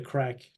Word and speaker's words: craic: you know this term, the crack. Do you know the term, the crack? The crack? Like Yeah. Crack? No. Craic, we spell it in Ireland.